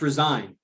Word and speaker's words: resign: of them right because one has a silent g in it and that's resigned to resign like at a job or to resign to my cell at night when I lock down to withdraw go back resign that has a silent g in it and then there's resonate which is like when sounds resonate uh or vibrations resonate there's no G in that word it's two ends resonate